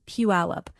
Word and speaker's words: Puyallup: Number two is Puyallup, pronounced Puyallup, and it brings a different kind of walkable center to the Seattle area map.